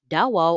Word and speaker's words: Davao: Davao, or pronounced as Davao, also refers to a trading settlement where they bartered their forest goods in exchange for salt or other commodities.